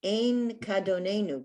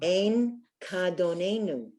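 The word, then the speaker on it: אין כאדונינו: Then the second part says Ein Kadonenu. Can anyone see the root word there? It's another word for God or master or Lord. Adon. Adon, beautiful. Ah. Ein Kadonenu.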